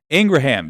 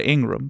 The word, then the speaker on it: Ingraham: Ingraham, yes, apparently that is how you say, I've been saying Laura Ingraham, but apparently, according to her brother, that is how you say the last name.